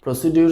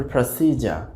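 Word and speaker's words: procedure: প্রসিডিউর শব্দটা আমরা প্রতিদিনই ব্যবহার করে থাকি, আমরা বলে থাকি প্রসিডিউর। দি প্রসিডিউর ইজ not correct, অর্থাৎ এই প্রসিডিউরটা সঠিক নয়, তো প্রসিডিউর শব্দটির আসলে সঠিক উচ্চারণ হবে প্রসিজার।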